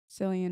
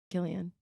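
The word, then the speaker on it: Cillian: best actor for oppenheimer's selan Murphy Oh Killian oh that's how you say his name yeah I hate that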